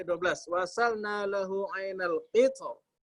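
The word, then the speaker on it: القطر: Wa asalna lahu ainal qitr. Kita bacanya tebal kan? Iya. Ya padahal boleh tipis.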